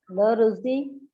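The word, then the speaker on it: La Russie: This one, La Rusi. La La- Rusi. La. La Rusi. See, double S, wherever you see double S, it means you have to pronounce it, the S sound has to come.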